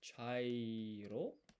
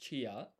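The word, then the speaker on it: ちゃいろ: And so this is chi, this is ya, and this is not pronounced chia because this ya is half size. So this becomes a a blended syllable cha and then we just stick an i at the end and then a chai.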